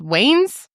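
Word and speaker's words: Wayans: wayin yeah no wayin is it pronounced Wayne's like the Wayne brothers no oh Wayne how he's from he's from White Chicks bring up on scen Marin Wayne is it spelled it's Waynes okay yeah well good to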